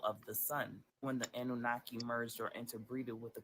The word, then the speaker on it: Anunnaki: He broke it down for me to spell it out. All right, the Anunnaki God. That's how you say Anunnaki.